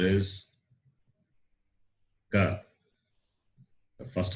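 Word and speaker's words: क: So what is the sound you hear when I say Ka? Ik plus A.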